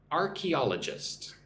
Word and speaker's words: archaeologist: Archaeologist. Archeologist. Emphasis goes on all archaeologist.